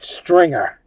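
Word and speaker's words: Stringr: S T R I N G and the letter R. No E. Okay. And it's called stringer. Okay. With no E.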